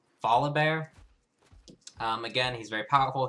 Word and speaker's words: Volibear: Volib Bear. I was calling him Volibar earlier. Volib Bear.